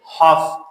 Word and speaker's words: half: Walk, قدم زدن, L is silent. Half, not half.